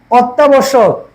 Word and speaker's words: অত্যাবশ্যক: সেটা কি দ্বিতীয় উচ্চারণ হবে, কি হবে দ্বিতীয় উচ্চারণ হবে অতঃপর, অতঃপর। অত্যাবশ্যক, এই যে দেখো শব্দের আদিতে অ ধ্বনি আছে,